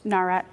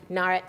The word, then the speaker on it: Nawrot: a say your last name again narat narat see I was going to say that I